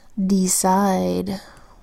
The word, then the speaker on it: decide: by a consonant letter second syllable side we've got the see that makes this off C sound because it comes before the letter I the letter I makes